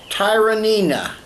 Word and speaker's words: Tyranena: instructions on the name so if I read them correctly that's tyrina it's a Benji smoked